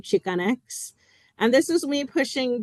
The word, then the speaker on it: Chicanx: It's called, the first one's pronounced chi, the second one's pronounced X, which is in reference to the term Chicanx.